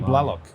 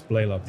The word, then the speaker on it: Blalock: a long A. I call you Blalock. A lot of people do. A lot of people do. Yeah. They don't see the Y after the A, and they think it's a softer. That's Blalock. It's Blalock. Yeah, So Blalock.